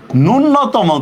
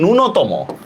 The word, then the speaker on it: ন্যূনতম: যেমন এই দেখেন এইটার উচ্চারণটা আমরা অনেকে ন্যূনতম করি, অথচ এটা কিন্তু ভুল। এটা কিন্তু ন্যূনতম না, এটা ন্যূনতম। নমস্কার, নো নয় ওকার, ত ময় ওকার, ন্যূনতম, ঠিক আছে?